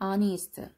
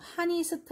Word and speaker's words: honest: 발음은 honest. H가 소리가 있을까 없을까? 없어. 이거 묵음이에요. honest 아니고 honest예요. 그래서 얘는 소리가 없으면 요거부터 소리가 나. O부터.